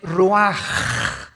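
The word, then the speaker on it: רוח: El ruaj que se escribe r u a c h.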